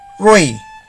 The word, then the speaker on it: rui: is pronounced as ron rui is pronounced as roy r-u-n is pronounced as